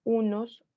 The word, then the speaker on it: un: Y en masculino con la nasalización. Un.